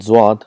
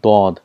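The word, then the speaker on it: ض: For example, for Zwad, in Urdu it's called Zwad, but in Arabic it's called Dod. There's a lot of difference between Zad and Dod, so we have to practice that.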